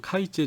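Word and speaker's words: 改善: 그래서 개선이라고 하는 것에 한자어로 일본식으로 읽으면 카이젠 인데 이게 이제 굉장히 중요한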